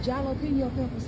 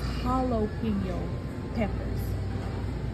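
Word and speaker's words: jalapeño: want some of them jalo Peppers too I said some what jopo peppers I said Mama that's Holo peppers I said the J is silent what you mean is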